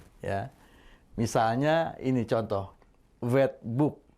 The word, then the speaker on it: wetboek: Misalnya ini contoh wetboek. OE di sini berbunyi U, ya.